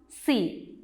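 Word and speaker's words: sea: See. Now look at the next word. It is S-E-A and we pronounce it as see.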